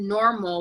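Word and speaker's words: NORML: calm you can also go to normal which is spelled in o R ml dot org and you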